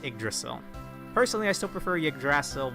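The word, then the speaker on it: Yggdrasil: Also, for most of my life, I read this as Gigdasil, more like a Y from the Y, but I've heard in media it's pronounced igdrasil.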